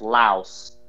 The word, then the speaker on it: Laos: Mark I don't mean interrupt you but it's pronounced Laos oh Laos okay well in any event though AJ the